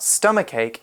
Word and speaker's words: stomachache: he'll wait on mmm-hmm yes wait Hong is stomachache and that's a noun and it's felt stom ACH ACH e stomachache right so the first thing you'll notice about stomachache is that it has quite a strange pronunciation even though it's got to see H's